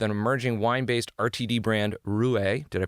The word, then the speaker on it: Roué: the CMO with an emerging wine-based RTD brand, Roué. Did I pronounce that correctly?